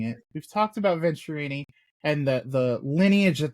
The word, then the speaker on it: Venturini: to see this place um we talked about venerini and obviously venturini I keep on mispronouncing it we've talked about venturini and the the lineage that they have as